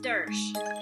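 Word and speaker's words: Doersch: Hi, my name is Mrs. Dersch. Dersch is spelled D-O-E-R-S-C-H.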